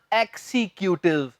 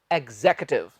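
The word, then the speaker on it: executive: कि बन गया है एक्सिक्यूटिव पर एक गलत है इधर सही उच्चारण है 24 अंततः अंग्रेज़ों द्वारा सही उच्चारण एग्जीक्यूटिव एग्जिक्यूटिव एग्जिक्यूटिव रंग जरूर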